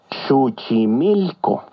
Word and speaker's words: Xochimilco: atención su símil que recuerda que en el náhuatl las palabras se acentúan en la penúltima sílaba succi mil o muy bien ahora ya